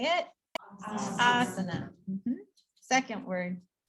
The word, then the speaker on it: asana: remember, but just some common ones you'll see mispronounced. So our first one is, how do we say it? Asana.